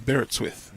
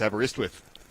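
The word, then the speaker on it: Aberystwyth: And I've been told how to say this one at Barrettswith. No, no, no. It's Abberiswith. I've been told how to say that one, too. Abberiswith. That's it.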